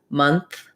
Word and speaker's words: month: something more open month so what i would say is just build this um slowly so trying mon month so just get used to doing that month and then months to do the th plus the s you just have to pull the tongue back a little bit so th is between the teeth is just behind the teeth months you can try